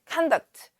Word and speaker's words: conduct: Conduct. 이제 conduct라고 동사로 conduct 이렇게 발음하면 지휘하다지만 또는 뭔가를 수행하다라는 뜻이 되고 하지만 명사로 conduct 이러면 행동이죠.